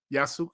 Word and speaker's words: Yasuke: Yeah, Yasuke.